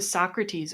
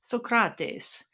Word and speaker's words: Socrates: We now come to Socrates, or rather Socrates, which apparently is the way you're supposed to pronounce that.